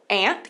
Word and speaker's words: aunt: Que a gente tem, então, aunt, que é a pronúncia do inglês americano. E você tem a pronúncia do inglês britânico, que vai ser aunt.